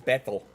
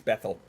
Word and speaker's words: Bethel: It's Bethel. It's Bethel. You have to say it like Mike Tyson.